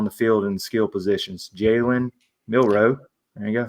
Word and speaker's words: Jalen Milroe: Jalen Milroe, there you go, said it right, and then also Ryan Williams.